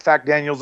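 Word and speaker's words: FacDaniels: a c daniels yes you can pronounce it fact daniels if you want fact daniel's on twitter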